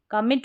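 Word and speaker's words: committee: फिर यहाँ पर है कमिटी, कमेटी बोले या कमेटी बोले, दोनों तरीके से आप प्रोनाउंस कर सकते हैं। आई को ए करके पढ़ें या ई करके, दोनों सही है, कमेटी।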